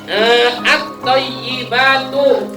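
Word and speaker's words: الطيبات: At-thayyibatu. Nah. At-thayyibatu. At-thayyibatu. Nah, ini ada at-thayyibatu. Biasanya thayyibatu, yaknya hilang tasdidnya.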